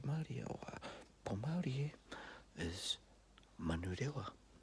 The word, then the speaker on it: Manurewa: So Manurewa, ta-da. So ma, nu, re, wa. So all of your vowels in that are all short.